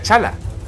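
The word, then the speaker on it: T'Challa: en inglés black panther Y por qué su nombre se pronuncia chala suena nombre de mascota Qué pasa que la t es muda como en dango en fin son aspectos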